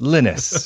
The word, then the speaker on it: Linus: yes, but he's Norwegian, and it's pronounced Linus over there and not Linus like it is over here.